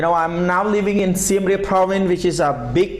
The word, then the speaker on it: Siem Reap: Siem Reap.